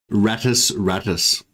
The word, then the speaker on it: Rattus rattus: my space marines um the latin pronunciation is state twice no it's like radius radius i think there's like